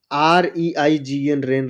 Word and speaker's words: reign: जैसे SIGN साइन, साइन मतलब होता है चिन्ह। FEIGN फैन, फैन मतलब होता है ढोंग रचना। REIGN रेन, रेन मतलब होता है शासन।